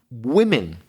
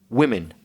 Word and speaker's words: women: pronunciation of women because although the first syllable doesn't change as regards spelling w-o-m the pronunciation changes so it looks the same but actually it's pronounced differently so one woman to women and it's such an